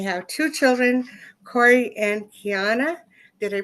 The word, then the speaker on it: Kiana: She is married to Coy Pilson, and they have two children, Corey and Kiana. Did I pronounce Kiana's name right?